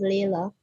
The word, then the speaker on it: Lila: Lila Harding. You can go ahead. Excuse me, Mrs. Already pronounced as Layla.